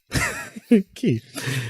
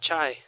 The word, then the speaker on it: Ki: The right way to say Dragon Ball Z energy. Ki. Not Kai. Not Chai. Not Chai Chai.